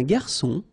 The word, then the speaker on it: garçon: Remember when we get this cédille beneath the C, it will give you the pronunciation S of C. So instead of K, as it should be with O.